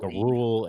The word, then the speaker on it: rural: rural area. Okay. Like the rural. longer drives. There's rural and there's city carriers. No, say it with me. Rural. Rural. There you go.